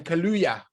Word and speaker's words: Kaluuya: Daniel Kaluuya. How do you say his name? Kaluuya.